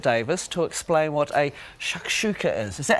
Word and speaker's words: shakshuka: Okay, now it's over to Chef Mark, who is with author and cook Bridget Davis to explain what a shakshuka is.